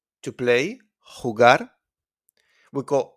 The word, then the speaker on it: jugar: It's pronounced like a h, okay, from your throat. Sounds come from Arabic, okay? So we got jugar, jugar, to play, jugar.